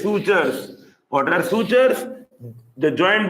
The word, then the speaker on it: sutures: call them sutures sutures this is how we pronounce it sutur s u t u r s sutures what are sutures The Joint between the skull